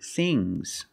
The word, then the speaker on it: things: One thing, two things. So NG plus S, it's a soft G.